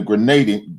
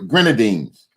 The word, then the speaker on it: Grenadines: the volcano eruption and saint vincent and the grenadine grenadines that's how you say it the grenadines um